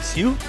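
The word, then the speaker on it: Hsueh: Yeah, Elisa Sue, I believe it's pronounced H-S-U-E-H, is Sue.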